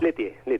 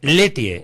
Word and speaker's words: Lieutier: Letier. Letier, ahí está. Bien pronunciado.